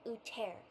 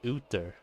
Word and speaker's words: Uther: If they pronounce this name Uter, then the ones in Warcraft that has the same spelling of the name, but they pronounce it Uther.